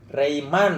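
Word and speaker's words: Reijman: Rebecca Rayman, bukan Romaine, Rebecca Suyati Rayman.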